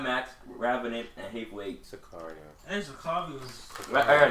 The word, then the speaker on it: Sicario: The Revenant, Roger Deakins, Cesario. Oh, fuck. Sicario. It's Sicario, man.